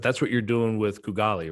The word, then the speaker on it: Kugali: But that's what you're doing with Kugali, right? Did I say it right? Yeah, you pronounced it right.